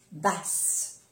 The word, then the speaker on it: basse: Se pronuncia bien la S, basse.